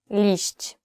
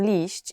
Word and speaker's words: liść: Liść, leaf.